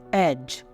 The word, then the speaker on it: edge: एज, EDGE, एज, EDGE को हम क्या बोलते हैं, एज। यहाँ पे भी हमारा डी का साउंड नहीं करेगा, क्योंकि वो भी जी से पहले आ रहा है।